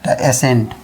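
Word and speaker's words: ascent: जैसे ए एस सी देखिए एस के बाद क्या है? सी है। तो क्या हो गया? ए से ए हो गया। एस से क्या हो गया? से न एसेंट। एसेंट यानी सी साइलेंट रहता है।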